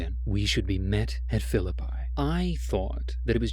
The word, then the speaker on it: Philippi: I had been pronouncing it Philippi, but they pronounced it Philippi.